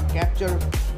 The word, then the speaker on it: Captur: में कैप्चर यानी KAPTUR, Russia में इसे प्रोनाउंस करते हैं के, और इंडिया में इसे CAPTUR कैप्चर, और उसके नीचे नंबर